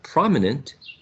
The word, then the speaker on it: prominent: the first uh sorry which is the the stressed syllable the first one the first one right prominent and does anyone disagree